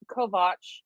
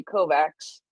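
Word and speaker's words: Kovács: that um Zoltan Kovac Kovach excuse me I need to remember that I do know how to pronounce Kovach in uh Hungarian um most of you would look at it and say Kovacs anyway told the publication that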